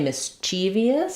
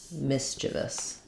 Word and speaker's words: mischievous: is the same um where we can say mischievous so same thing misus but more commonly you'll hear mous mischievous mischievous behavior um I do have